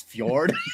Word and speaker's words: fjord: I would love to see somebody who doesn't know how to pronounce fjord try to read that joke.